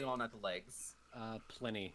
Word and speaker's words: Pliny: Pliny the Elder made them up.